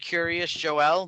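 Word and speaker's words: Kiryas Joel: is right next to it's pronounced Curious Joel, but it's not spelled that way.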